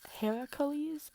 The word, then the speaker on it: Heracles: Heracles is how you say Hercules in the Greek way, but these are Hercules. This is the Roman way.